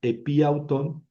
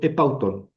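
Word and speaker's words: ἐπ' αὐτόν: Entonces, de decir en vez de decir epiautón, digo epautón. Epautón. ¿Qué hice? Solamente suprimí la Yum, ¿verdad?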